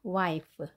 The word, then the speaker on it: wife: 남편의 입장에서 아내, wife. P 발음이 아닌 F 발음입니다. She is my mother.